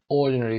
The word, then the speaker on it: ordinary: Ordinary تلفظش رو دقت داشته باشید. Ordinary نمیخونیم این رو. استرس در قسمت اول.